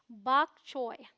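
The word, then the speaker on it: bok choy: फिर हमारे पास चीनी पत्ता गोभी, तो इसे हम बोलते हैं बाक चोय।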